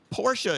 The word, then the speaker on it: Porsche: of shortening things yes Porsche is two syllables correct how do you feel